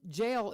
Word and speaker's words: gaol: But I just jail is GAOL.